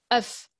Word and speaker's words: neuf: le mot était bien neuf en effet alors attention à la prononciation 1,9 on prononce le f final le s jamais mais au pluriel on